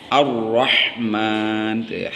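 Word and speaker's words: الرحمن: Ar-Rahman. Jangan lupa sama dengan ini nih. Tuh. Man dibacanya panjang, ada 4 alif mad tabii sebutnya.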